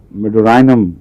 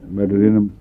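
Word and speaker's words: Medorrhinum: اس کا تلفظ یہاں میڈورائنم بیان کیا جاتا ہے، ہم غلطی سے میڈورینم پڑھتے رہے ہیں.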